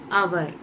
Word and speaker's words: hour: இங்கே ஹவர் கிடையாது, அவர்.